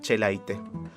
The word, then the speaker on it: Echelaine: pronunciase escribía esaúl y tiene una pronunciación bastante difícil pero kaká se decía che light así que vamos a